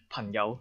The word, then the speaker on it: 朋友: Also, so sometimes it will affect this sound, and many people will pronounce this as 朋友 like that, 朋友.